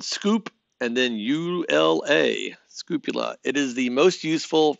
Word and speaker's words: scoopula: It's spelled scoop and then U-L-A, scoopula.